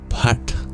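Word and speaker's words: phaṭ: The seed of this mantra is this word, pat, which is a little difficult to pronounce as it has an aspirated P sound, pa, almost like an F, and a retroflex T that requires us tapping the bottom of our tongue against the roof of our mouth.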